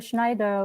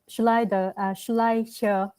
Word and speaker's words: Schleicher: Schneider also, Schleicher, sorry for mispronouncing, also kind of highlight the importance of early child development.